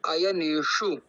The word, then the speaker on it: अयनेषु: ना वहां पर तो अयने शु एक बार आप बोलिए अयने शु आयने हा जैसे कि ट जहा प बोलते है ना ट ठ वहा पर वही प श पड़ेगा एक बार प्रयास कीजिए